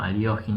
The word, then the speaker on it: Alekhine: Básicamente, ya por ejemplo en aquellos años, Alexander Alekhine, bueno, Aliogin es la pronunciación, criticaba esta jugada G6